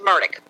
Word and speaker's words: Murdaugh: buddies as a regular d regularly do it's murdock all right what about um what about ella the pronunciation l-e-x so he was his name was